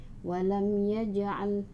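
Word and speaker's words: ولم يجعل: Mengapa mim sukun diikuti oleh ya? Jadi pengucapannya harus jelas di bibir, atau izhar syafawi. Walam yaj'al.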